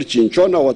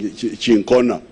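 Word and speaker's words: Cinchona: Is it called chinchona? How do you pronounce it? Huh? My doctor here is saying chincona.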